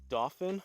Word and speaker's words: Dauphin: in Harrisburg Pennsylvania playing dolphin I believe it's pronounced it looks similar to like dolphin without the L but Dolphin Highlands Golf